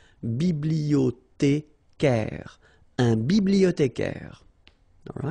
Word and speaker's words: bibliothécaire: Then un bibliothécaire. Bibliothé. Remember, in French, the H doesn't exist, so you don't pronounce it. Bibliothécaire.